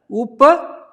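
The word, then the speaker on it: Upavishtha: So how to say this one? It is a Upvishtha. So it is a combination of 2 words actually, but I put it together. So Upa, U and P and A.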